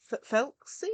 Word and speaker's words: Thelxie: water for oh guys I forgotten how they pronounced it felsy I think is how they said it FY